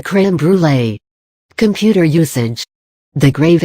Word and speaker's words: crème brûlée: Crème brûlée, the French dessert, also known as burnt cream, is pronounced crème brûlée.